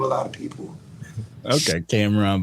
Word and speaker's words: Kamron: There's different ways to pronounce it. So. Kamron is how you can do it, and then.